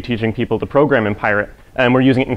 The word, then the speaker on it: Pyret: talk about a programming language called pirate it's spelled as it appears here p-p-y-r-e-t not pirate like you're stealing things uh and i'm gonna